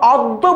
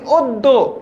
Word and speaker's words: অদ্য: তারপর অদ্য বলি না, বলি অদ্য, ঠিক আছে?